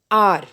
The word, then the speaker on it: hour: For example, R. This R word, HOUR, starts with H, that is a consonant. But when we pronounce it, it gives the sound of a vowel.